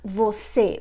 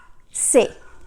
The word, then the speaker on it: você: Usually Brazilians, they don't say the whole word like você. They usually say se. They just pronounce like se.